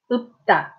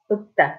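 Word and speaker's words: 읊다: This one, you pronounce the second one. Okay, so. Upta, upta.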